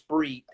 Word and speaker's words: Spriet: I used to think that was the case, but then I read some research from Lawrence Spreet, that's spelled Spriet.